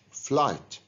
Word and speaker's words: flight: do you think excellent the gh in flight is silent so we pronounce the word without pronouncing the gh flight it has a f